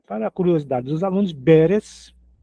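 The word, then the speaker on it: ברז: Nesse caso aqui temos a palavra beres. B. A o consoante do meio aqui é o reche, é o R. E a última aqui do lado é o zin, é o Z. Perz.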